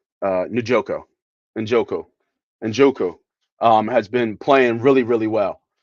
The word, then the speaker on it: Njoku: I gotta see it to pronounce it right. Njoko, Njoko, Njoku, has been playing really well.